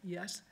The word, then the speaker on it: Yuskavage: And I'm now going to introduce Christian Viveros-Fauné, who will introduce you to our guest artist tonight, Lisa Yuskavage. Rhymes with savage.